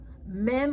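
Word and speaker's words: מ: Mem pronounced like a M in Mary.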